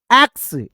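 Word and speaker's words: axe: this is this your एक्स ठीक है एक्स ई को साइलेंट रखिएगा तो वुड कटर वुड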